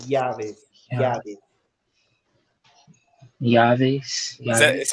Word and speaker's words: llaves: Uh, but even like this word right here, llaves with the double L is pronounced llaves.